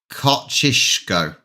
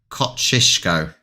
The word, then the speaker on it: Kosciuszko: Kosciuszko? No, that's not how you pronounce it. Kosciuszko. It's got to be because an SZ is sh.